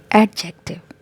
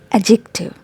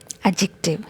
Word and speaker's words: adjective: people pronounce it like adjective but the correct transition of this word is adjective adjective here letter d is silent all right and a